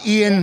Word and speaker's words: Iain: And it's Iain.